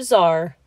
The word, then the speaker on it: czar: C is for czar.